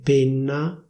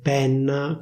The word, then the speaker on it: penna: The standard pronunciation should be /pénna/. In Milan, people say /pènna/ with an open /è/ sound.